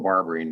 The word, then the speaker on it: Barberin: have a uh barberin I apologize if I'm mispronouncing that no you did not it's correct barbarine the CBC Federal Credit